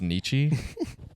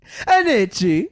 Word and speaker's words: Nietzsche: It's pronounced Nietzsche. Nietzsche.